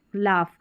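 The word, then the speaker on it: laugh: अब इसको लाफ करके प्रोनाउंस करते हैं। लाफ।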